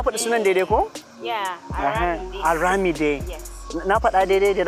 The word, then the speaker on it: Aramide: Yeah, Aramide. Yes. Na faɗa daidai, did I pronounce it right?